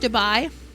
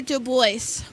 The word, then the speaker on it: Dubai: It's pronounced Dubai. It's Dubai. It's so yummy. Ah! It's so good, actually. Dubai or Du Bois? Dubai. It's pronounced... It's like D-U-B-Y. Dubai. It's exactly how you say that word.